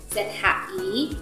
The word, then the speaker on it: zhi: ZH kalau kita tambah dengan huruf I, ZHI, cara bacanya seperti saat kita bilang judge, tambah E, judge, misalkan tahu atau mengerti, 知道 ZHI sekarang masuk ke CHI.